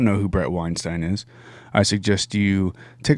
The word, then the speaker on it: Weinstein: the name of Brett Weinstein, and we have mispronounced his name over and over again as Weinstein, and it is actually Weinstein.